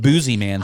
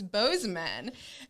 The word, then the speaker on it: Bozeman: i'm just like me i think boozy man sounds cooler i don't know if that's really how you say it and then cole's like no i'm from there it's it's bozeman and the next thing